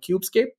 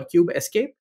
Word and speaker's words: Kubescape: There is an open source tool called KubeScape or KubeScape, based on how you choose to pronounce it.